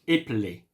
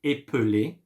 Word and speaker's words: épeler: Épeler. You can say, there is many way of pronouncing it. You can say épeler, which is right. Or, since you don't, this E, like, the E at the middle here.